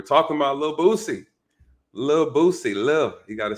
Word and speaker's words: Lil Boosie: about a little boosie lil boosie live you got to say that you gotta leave the the last l is silent love lil boosie you guys